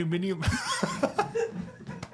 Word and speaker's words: aluminium: aluminium."